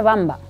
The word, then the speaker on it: Wamba: para defender esa cristiandad el pueblo se pronuncia Bamba todo el mundo pronuncia esa W pero en realidad es una W centro europea nunca anglosajona nunca guamba siempre bamba con la bi porque eh se le